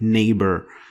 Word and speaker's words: neighbor: It was basically changed to F or nothing, like neighbor. It doesn't. You don't pronounce the GH.